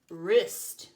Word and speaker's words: wrists: more hi I'm a Oh silent W yep in words like Ren and wrists oh okay well that's